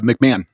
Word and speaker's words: McMahon: Uh McMahon, Linda McMahon is will begin the process of dismantling the education department after the Supreme Court wins.